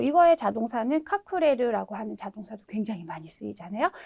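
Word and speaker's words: 隠れる: 카쿠스라고 읽어주시면 되겠죠. 뭐 이거의 자동사는 카쿠레르라고 하는 자동사도 굉장히 많이 쓰이잖아요.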